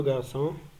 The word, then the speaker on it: garçon: La règle numéro 5, pour prononcer S devant A, O et U, on ajoute une CD à la lettre C. Exemple, le garçon, un perçu, un façade.